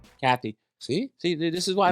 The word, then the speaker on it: Cathey: fighter Kevin good night how do you say it Katie all right Kathy see see this is